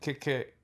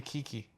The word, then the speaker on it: Keke: Eddie Murphy, Pete Davidson, and Kik Palmer. Kiki Palmer.